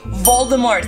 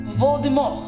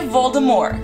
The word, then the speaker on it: Voldemort: Vocês sabiam que nós estamos todos a dizer Voldemort da maneira errada? Yeah, eu não sabia. Mas aparentemente, a última letra de Voldemort, T, ela não se lê.